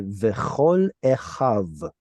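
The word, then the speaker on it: וְכָל אֶחָיו: Now, I think you might have read this as a final nun. I know they look very similar, but it's a vav.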